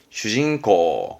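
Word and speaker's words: 主人公: 발음은 슈징코.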